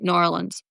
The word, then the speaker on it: New Orleans: How many syllables does New Orleans have? It's like 1, right? New Orleans.